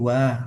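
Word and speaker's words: は: Wa, di dalam hiragana dia dibacanya ha. Tetapi ketika dia menjadi partikel, dia menjadi wa.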